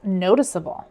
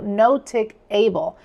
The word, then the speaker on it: noticeable: Removing the E would transform the word notice into notic, altering the pronunciation to notic-able, which deviates from the intended noticeable.